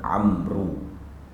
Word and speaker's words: Amr: Kalau kita tengok, dia akan tulis Amr ataupun Amru. Dia sebenarnya Amr.